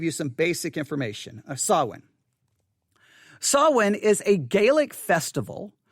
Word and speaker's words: Samhain: one more time sawwin sawin all right the word sawin now here's what i'm gonna do okay that's the word of saw when again it's spelled s-a-m-h-a-i-n but it's sawin i'm gonna do something